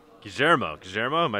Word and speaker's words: Guillermo: now all right gujaramo gajermo am i saying right you got it right yes that's the argentine pronunciation of guillermo okay so born born